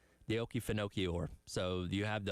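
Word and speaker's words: Okefenokee: the Oki Fino. Pronounce it. The Oki Finoi or so you have the Oki Finoi swamp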